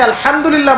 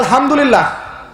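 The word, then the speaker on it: الحمد لله: হায়ে Houthi, এটাকে বলে বড় হা। উচ্চারণ কোথা থেকে করতে হয়? মাঝখান থেকে। মাশাআল্লাহ। এখানে যদি আপনি আলহামদুলিল্লাহ বলেন, অর্থ হচ্ছে সমস্ত প্রশংসা কার জন্য?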